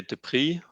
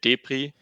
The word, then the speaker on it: Deprie: So I usually say Deprie, so Okay. like more French way, but Germans like to say Deprie, Okay.